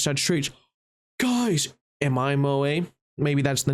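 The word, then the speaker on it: 萌え: Moe, pronounced moe, moe moe cute.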